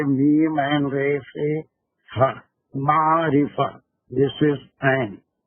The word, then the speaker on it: معرفہ: یہ اگر نہیں سمجھ میں آ رہا تو ہجے آپ لکھ لیجیے، میم عین رے سے ہا، معرفہ، دس از عین، معرفہ، نکیرہ، نکیرہ دیٹ مینس کامن نام۔ اب اس